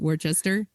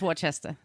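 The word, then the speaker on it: Worcester: College in Worchester Massachusetts is that how you pronounce it Worchester yeah am I wrong you making fun of me I don't know I I think it's Wester okay I know it's Dorchester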